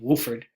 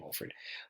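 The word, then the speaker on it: Wofford: to get that name Wolford but it's not pronounced that way it's actually Wohlford but this is one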